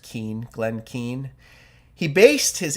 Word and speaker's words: Keane: I think his name is pronounced Keane.